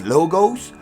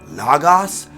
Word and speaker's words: logos: Now, according to who's saying it, they say it different ways. Logos, logos, logos, logos, logos, but it's still spelled the same way, L-O-G-O-S.